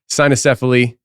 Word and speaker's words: Cynocephali: Cynocephali? Cynocephali. If you're Cynocephali. using the restored classical Latin, it would be the cuneiform. But we just say Cynocephali. All right. So Cynocephali, and I will not remember to pronounce that again.